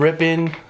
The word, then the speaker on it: Ripon: Yeah, we call it Ripon, Yeah, it's all rip.